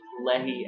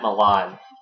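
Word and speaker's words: Mehlan: 2005 ghostly international and Matt Lenny I think is how you pronounce his name Matt Milan is how you say his name this is the first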